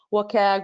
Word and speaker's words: WCAG: web content accessibility guidelines you may hear it as what cag wake wcag however you want to hear it or pronounce it it's totally fine just know that these